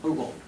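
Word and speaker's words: Hügel: Hugel. Hugel. That's how the Germans would pronounce it.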